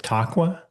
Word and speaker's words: Taqwa: Yeah, you you mentioned here you call this uh part of the spiritual intention part is vision board with taqua. Did I mispronounce that horribly?